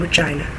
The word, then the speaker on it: Regina: Well, I sound very dirty, but I'm from Regina, the city that rhymes with fun.